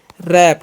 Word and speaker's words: wrap: Next क्या है, WRAP, तो इसे हम पढ़ते हैं रैप, क्या पढ़ते हैं रैप। RAP है तो इसे भी हम लोग रैप ही पढ़ते हैं, बट यहाँ पर W साइलेंट होता है पहले वाले में, ध्यान रखना।